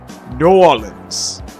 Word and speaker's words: New Orleans: Realm by way of New Orleans. You have to say it like that, New Orleans.